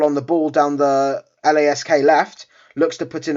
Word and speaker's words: LASK: this with this apologies i've been saying it wrong it's not lask it's lask looks like it will